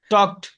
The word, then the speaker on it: talked: টকড। To talked. হ্যাঁ, এলের উচ্চারণ হবে না।